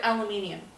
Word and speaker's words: aluminium: Let me guess, you never heard the word aluminium. I have not. Aluminium. That's the proper pronunciation. We took out the last I.